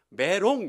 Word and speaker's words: 메롬: 어디냐 메로 물 까입니다 발음을 잘 하셔야 되요 메롬 이름은 한대요 예 매로